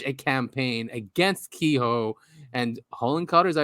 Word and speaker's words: Hillenkotter: But so basically what Richard's saying here is that there was such a campaign against Kehoe and Hillenkotter, is that how you say his name? Hillenkotter, I think. Hillenkotter, yes.